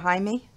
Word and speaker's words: Jaime: And are we pronouncing it correctly, Mr. Jaime?